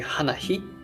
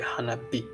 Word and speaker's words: 花火: And also maybe same thing happened to hanabi. It should be hanahi, but it sounds not natural, so we decided to change it to hanabi.